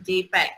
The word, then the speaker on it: JPEG: So JPEG ni adalah Joint Photographic Experts Group and pronounced as JPEG.